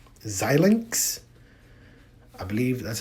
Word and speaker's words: Xilinx: stock is ticker symbol x l in x xilinx i believe that's how you pronounce it xilinx um ticker symbol xlnx xilinx